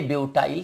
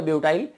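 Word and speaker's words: butyl: चलिए आगे आइए, देखो कभी मैं ब्यूटिल बोल देता हूं या ब्यूटाइल, देखो प्रोनाउंसिएशन है, मुझे लगता है कि मेरे हिसाब से तो ब्यूटिल ही सही है, ठीक है, क्योंकि आई लगने के बाद ई आना चाहिए, बट ठीक है ना,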